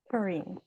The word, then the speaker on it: Kareen: guest and my guess is now do you pronounce it Karen or Korean Korean ah see yes so um I thought I